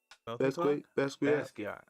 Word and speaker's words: Basquiat: Basquiat.